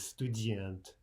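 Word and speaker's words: студент: So to take a simple example, the Russian for student is student, student. Now note that the underlined E, or in Russian, yeah, is telling us that the second syllable is the stressed syllable.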